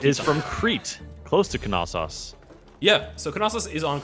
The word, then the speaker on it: Knossos: You do pronounce the K.